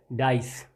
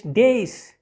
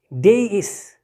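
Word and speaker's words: dais: of wood almost ज़्यादातर, that is commonly mispronounced as dice. Dice नहीं होता. Exact pronunciation of this word is, look at the phonemic transcription, it's days. Days.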